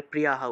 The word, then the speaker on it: প্রিয়ঃ: শ্রদ্ধানা মৎপরো মা ভক্তস্তে অতীব মে প্রিয়ঃ, প্রিয়ঃ বিসর্গ থাকায় হ, এবং আগের এবং বিসর্গের আগের অক্ষরের সাথে আকার আছে বিধায় আকার দিয়ে দিলাম, তাহলে প্রিয়াহ উচ্চারণ হবে, ঠিক আছে।